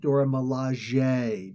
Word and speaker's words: Dora Milaje: Dora Milaje, and yes, it is pronounced Dora Milaje. Dora Milaje. I mean, it's like they actually sound it out for you.